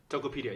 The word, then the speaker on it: Tokopedia: How do you pronounce this? Tokopedia? Tokopedia, yeah.